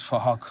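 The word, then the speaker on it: Phuc: His name is Fahok, but spelled with a PH, so it sounds like Fahok.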